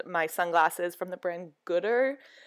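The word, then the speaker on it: Goodr: Some eyeglass holder things and my sunglasses from the brand Gooder. They are pronounced G-O-O-D-R.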